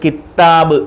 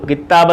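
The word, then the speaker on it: كتاب: എന്നും പറയരുത് അവിടെ ശദ്ദില്ല സാധാരണ നമ്മൾ കിത്താബ് കിതാബ് എന്ന് പറയ കിതാബ് എന്നേ ഉള്ളൂ കിതാബ് അവിടെയും താിന് ശദ്ധില്ല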